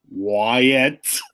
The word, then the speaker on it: Wyatt: Wyatt. Thank you. Yes. Really enunciate those two syllables there.